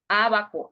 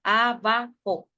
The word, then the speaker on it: ábaco: Ábaco. La última sílaba sería la co, ¿verdad? Ábaco. Entonces, última, co. Penúltima, va. Y a sería la antepenúltima. Por eso se acentúa acá. Llevan acento en la antepenúltima sílaba.